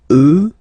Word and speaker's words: eux: get the sound remember, final X not pronounced, and then plural, elle, elle. Okay, so let's see them one more time. Moi, toi, lui, elle, nous, vous, eux, elle.